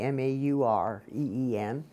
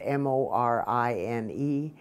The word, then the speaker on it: Morine: but it's not the m-a-u-r-e-e-n it's m-o-r-i-n-e and my mom used to say you don't pronounce it maureen you're supposed to be morin the french version of maureen i guess and that's